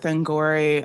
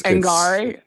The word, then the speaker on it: Angourie: I I do want to know and without spoiling of course the scene with Angori um I'm probably saying her name wrong it's Angari Angari kind of like flowery angari oh okay uh